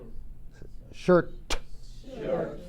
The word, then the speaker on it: shirt: Shirt. La T, si no se pronuncia la T, puede estar en agua caliente porque quizás está más cerca a una mala palabra.